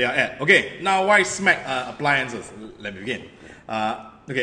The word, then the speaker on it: SMEG: In particular, we're going to talk about SMEG kitchen appliance. Nat, did I pronounce the brand correctly?